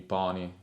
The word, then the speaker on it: pony: Quando abbiamo una parola straniera usiamo sempre le vocali aperte nella sillaba accentata, quindi pony, non diremo pony.